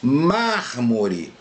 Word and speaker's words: mármore: Mármore, máscara. Nós vemos aqui, ó, mármore, mar-mo-re. É a antepenúltima. Nós temos duas sílabas depois ainda.